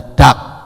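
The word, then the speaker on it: דג: Ikan itu di dalam bahasa Ibraninya itu ditulis dengan dua huruf, yaitu dalet dan gimel, membacanya dak.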